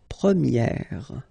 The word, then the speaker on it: première: about the masculine form, you pronounce it premier, okay? Premier. And then for the feminine form, you will get première, okay? So it's open, this e sound.